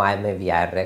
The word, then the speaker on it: AMVR: ha inviato am VR la pronuncio da qui in poi in italiano mvr così ci capiamo meglio cos'è mvr È una